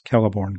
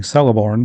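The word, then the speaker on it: Celeborn: that they don't know how to pronounce Kelliborn correctly. I don't know who out there on the internet is saying Celiborn, but please stop. That's not the correct way to say it.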